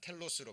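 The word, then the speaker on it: τέλος: 그런데 그 주께서 주신 결말이라는 이 결말이라는 단어가 자 텔로스로 발음이 됩니다.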